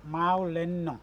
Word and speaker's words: Mawlynnong: इस गांव के नाम को प्रोनाउंस कैसे करते हैं? Maulenno.